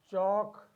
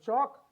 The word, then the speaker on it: chalk: a letter l talk chalk walk here we have l letter as a silent letter l as the silent